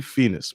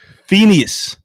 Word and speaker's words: Phineas: not for you bro it's definitely Finas bro something you saying is wrong Phineas Phineas Phineas and Ferb that's what yeah Phineas whatever is called Phoenix